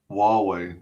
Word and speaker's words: Huawei: Huawei. That's how you pronounce it.